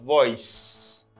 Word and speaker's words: voice: Li pas prononcer comme voice, li pas gen z là-dedans, li prononcer comme voice. Son C a ba mon son s.